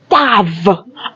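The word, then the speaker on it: ת: Lorsque nous prenons la 6e lettre, elle se dit Tav.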